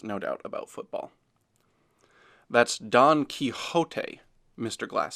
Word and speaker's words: Don Quixote: doubt about football that's Don Quixote mr. glass says pronouncing the X as an H the proper way Don Quixote Chet repeats